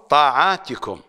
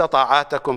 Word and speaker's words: طاعاتكم: انما انما ينصب بالكسر بدلا من الفتح ينصب بالكسر هذا هذا هذا جمع بالالف والتاء وجمع الكلمات التي تجمع بهذه الطريقه تنصب بالكسره وهنا طاعات جاءت مفعولا به وتقبل الله طاعاتكم وليس طاعاتكم كما تلفظها ثم بدا في اول